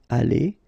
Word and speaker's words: allées: You don't pronounce it, but still you need to put it. Okay? Elles seront allées.